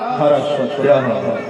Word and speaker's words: सरस्वती: उच्चारणिया सरितो हरितो भवंती सरस्वत्या हरस्वत्या। कहा कि वेदों की यह परंपरा है कि सकार के स्थान पर हकार का उच्चारण होता है, सरस्वती को हरस्वती भी कह करके पुकारा जाता है और सरित को हरित